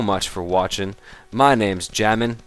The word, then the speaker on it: xJamin: My name's Jamin. That is spelled with a silent X, of course.